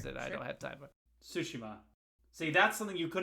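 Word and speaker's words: Tsushima: boy enough to play most of ghost of toshima and 50 other games that i don't have time sushima see that's something you could have yelled at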